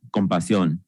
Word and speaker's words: compasión: As a Chicano and native Spanish speaker, compassion is pronounced compasión.